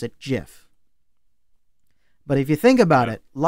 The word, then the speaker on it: GIF: this guy said you can pronounce it GIF.